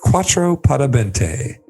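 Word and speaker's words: cuatro por veinte: said he had a quattro pada bente so what beverage was he referring am i saying the spanish correct you're saying it right you are saying it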